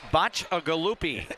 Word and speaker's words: Bacciagalupi: That is 5 syllables. Connor's last name is Bacciagalupi.